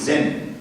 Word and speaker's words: Zen: chinese character if you read as a japanese it is zen so zen buddhism is